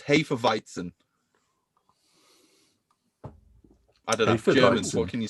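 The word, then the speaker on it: Hefeweizen: german it's spelled h-e-f-e-w-e-i-z-n that's right but it's pronounced hey for viton what can you say yeah i mean jesus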